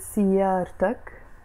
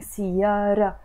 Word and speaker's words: سيارة: You see, this is not even pronounced. I'm just saying سيارة. I'm not saying سيارت. It's just سيارة.